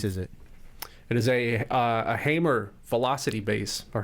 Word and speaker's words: Hamer: It is a Hamer Velocity bass or Hammer, Nice. however you pronounce it.